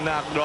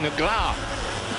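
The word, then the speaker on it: Negrão: And the pronunciation, really, of Alexandrino Nagro, I'm told from my Brazilian friends, is more like Negra.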